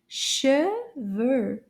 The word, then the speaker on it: cheveux: Cheveux.